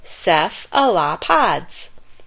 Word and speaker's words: cephalopods: of animals called cephalopodas you say it like this ceph allah pods cephalopods are strong and